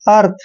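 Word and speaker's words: earth: ई ए आर का उच्चारण हमेशा ए करते हैं और आर को रे और टी एच को थ पढ़ते हैं। आर को यहाँ पे रे के रूप में लगाएंगे, मतलब अर्थ।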